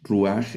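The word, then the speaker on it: רוּחַ: Este ruaj ruaj del pata furtivo. Observe que el pata furtivo hace sonar la he como una j suave aquí como gabo es una he.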